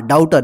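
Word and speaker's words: daughter: एन सन मतलब बेटा डाउटर डी ए यू जी एच टी ई आर डाउटर देखि जी एच जो है साइलेंट र इसका उचार नहीं हो रहा ठीक है डाउटर का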